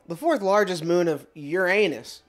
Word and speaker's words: Uranus: fourth largest moon of Uranus sometimes pronounced Uranus by those astronomy nerds discovered in October 1851